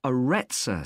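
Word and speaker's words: Arretsa: got a rather strange name it's called the aretza center that's spelled a double r e t s a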